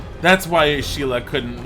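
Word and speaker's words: Ciri: seeing your name being pronounced Sheila it is pronounced Sheila there's a little accent over the I it's not si la it's like an SI SSI accent and I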